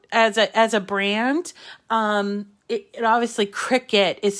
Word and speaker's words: Cricut: a brand, it obviously, Cricut is spelled Cricut. It has the word cut in it. And it sounds like a bug, right? It's a cricket, but it's not spelled like a cricket.